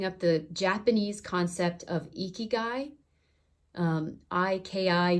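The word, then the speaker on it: ikigai: I recommend looking up the Japanese concept of igy um I Ki G AI is how you spell that look up eeky guy and just kind of look through the different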